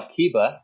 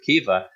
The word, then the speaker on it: Kiba: in the new one they changed the spelling and the pronunciation it's now Kiba instead of keifa but obviously the the